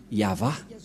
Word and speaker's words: Yahvah: de de yava et la prononciation de y h vav he selon les ébreeues c'est yava et personne ne peut